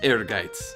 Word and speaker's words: Ehrgeiz: of all time anyways that's how to pronounce air gates so next time you're fighting with either the